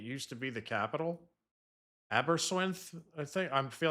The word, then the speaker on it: Aberystwyth: Aberystwyth, I think.